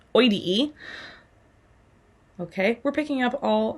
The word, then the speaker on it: oideae: Notice they all have that exact same ending though, that O-I-D-E-A-E, pronounced oidee.